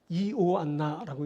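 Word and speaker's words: Ἰωάννα: 자, 요한나, 이오안나라고 읽히는 말인데 이 이름은 야훼는 자비하시다 또는 야훼께서 은혜를 베푸셨다라는 뜻을 가진 말입니다.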